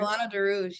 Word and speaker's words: Milano de Rouge: opening doors for you, you also intern with Milano de Rouge. Did I pronounce it right? De Rouge? Milano de Rouge, yes.